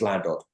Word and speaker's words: Llandrindod Wells: Because we live in Llandrindod Wells, and every single local person pronounces it as Llandod.